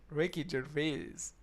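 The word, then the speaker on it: Ricky Gervais: This is how you say his name, Ricky Jerves.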